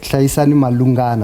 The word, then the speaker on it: Hlayisani Malungana: shirt, as well as Hlayisani Malungana from Giyani. Is that how you say your name? How do you say it? Hlayisani Malungana. Malungana. Yes. Malungana.